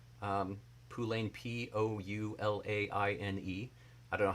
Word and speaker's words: poulaine: And they attributed it mostly to what they call, I believe it's pronounced Poulain shoe. Poulain, Poulaine.